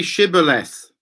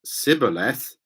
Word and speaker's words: shibboleth: they said all right say shibboleth if he said siboleth because he could not pronounce the word correctly they seized him and